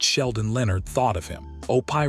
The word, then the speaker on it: Opie: Opie rhymes with dopey.